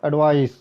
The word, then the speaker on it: advice: पहला है एडवाइस, तो इसको आप प्रोनाउंस करेंगे एडवाइस, स के साथ में, एस के साथ में।